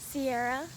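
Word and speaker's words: Siarah: So Sarah plus I, Sierra, that's how my name is spelled, S-I-A-R-A-H, not any of the other ways.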